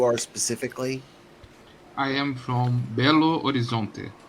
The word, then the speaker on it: Belo Horizonte: How do you pronounce where you are specifically? I am from Belo Horizonte.